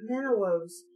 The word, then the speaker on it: minnows: I saw a million tiny silver minnows swimming near the surface. It's just minnows, but I've never actually seen the word spelt, so I accidentally read it with the W pronounced.